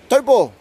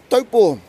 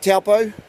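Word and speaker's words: Taupō: cup of the day or place name is dough ball yes that's right dope ball I'm gonna try and do as many of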